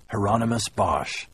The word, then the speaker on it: Hieronymus Bosch: say the painter's name Hieronymus Bosch rhymes with Anonymous he told me only